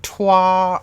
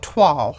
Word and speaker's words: toile: I've always pronounced it like twa or twill or whatever, but anyway, somebody said it's like saying y'all, so toile, I guess.